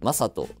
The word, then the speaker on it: 正斗: はい森下選手のこの名前の読み方って僕結構認識するまでに時間かかったんですけど分かりますはい正斗選手森下マ選手ですね最近読め